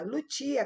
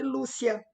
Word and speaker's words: Lucia: Mas em italiano é Lucia. Lucia, como se pronuncia a palavra, que aqui em português, uma pessoa do Brasil chamaria de Lúcia, porque é com C. Então, Lucia.